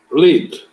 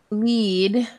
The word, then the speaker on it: lead: When you see that first, how would you pronounce it? Lead. Okay, so lead, and this is a very lead would mean to guide someone, right?